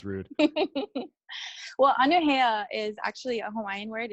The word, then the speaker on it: Anuhea: I'm your host, Bootsy Greenwood, and today I am joined with Okay, it's Anuhea. Anuhea. Okay. Yes. I'm the worst at pronouncing stuff.